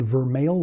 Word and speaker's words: Vermeil: His name is spelled Vermijl, so some might say Vermijl, but I asked him how he pronounces his name, and it's spelled Vermeil, like email.